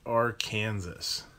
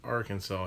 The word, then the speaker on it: Arkansas: an argument here because the Arkansas River goes into Kansas but we pronounced the river name as Arkansas my daughter who grew up in Arkansas hates it when I